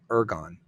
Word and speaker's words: ergon: let's talk about the idea of ergon. Is that how, am I pronouncing that correctly?